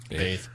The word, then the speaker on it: bathe: So normally we would bath her every night, or she would bath her. Bathe. There's an E on the end of that word. I was pronouncing the one that doesn't have the E.